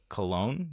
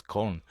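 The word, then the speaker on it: Köln: I'm like, "Do you guys say Cologne?" He's like, "No, it's Colon." And I'm like, "Colon?" Yeah, that's it's K O with Omla L. That's how you spell it in German.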